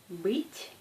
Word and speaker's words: быть: Par exemple, comparez la prononciation des mots быть et быт. Быть, быт. Dans le premier mot, on prononce T douce, comme быть, T. Et dans le deuxième, c'est T. C'est T dur.